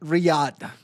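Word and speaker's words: Riyadh: I mean, uh, and it's pronounced Riad. Riad.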